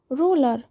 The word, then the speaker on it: roller: নীলকণ্ঠ পাখিকে ইংরেজিতে বলে Indian রোলার, Indian রোলার, INDIDANN, Indian রোলার, ROLLER। এখানে কিন্তু দুটো এল আছে, উচ্চারণটা কিন্তু একটা এলের মতোই হয়, রোলার, ইন্ডিয়ান রোলার মানে নীলকণ্ঠ পাখি, ঠিক আছে?